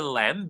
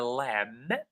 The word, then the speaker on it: lamb: The lamb, not the lamb, but the lamb, the B is silent, is sleeping in the field.